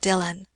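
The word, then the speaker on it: Dillwyn: gentleman a Mr Dylan Dylan Madge repeated that is the pronunciation of the name it is spelled D i l l w y n dilwin but it is called Dylan and who was the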